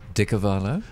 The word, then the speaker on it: de Carvalho: Drew de Carvalho, is that the correct pronunciation? De Carvalho, but that's okay.